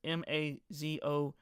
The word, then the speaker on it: Mazour: If I pronounce the last name wrong, I'm sorry. It's Mazour.